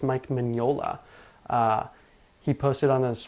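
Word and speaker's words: Mignola: verse I've been corrected uh apparently it's not magnola Mike magnola it's Mike Manola uh he posted on his well his wife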